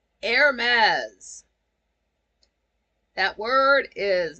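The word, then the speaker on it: Hermès: like the fashion house the H is silent and the last s is a z you don't say that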